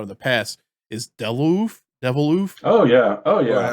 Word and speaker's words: Deviloof: but it's like you wouldn't think of Deviloof. Is it? Yeah, Deviloof. Yeah. How you say it? Deviloof.